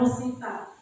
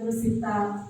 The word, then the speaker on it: Russita: Meskipun bicara Rusita itu sulit, biasanya kalau orang Jawa panggilnya Rosita. Tapi kalau ejaan yang benar Rusita SPD.